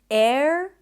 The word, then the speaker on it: error: Then the O sound is actually a schwa sound. It's not error, there is no O, it's error.